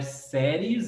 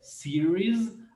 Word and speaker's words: series: Então não é séries, é series of.